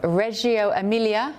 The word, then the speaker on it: Reggio Emilia: She's set to spend 2 days in the northern city of Reggio Emilia. Is that how I pronounce it, Greg?